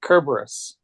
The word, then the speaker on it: Cerberus: hard C. Kerberos. I'm not mistaken. Caraberos, actually.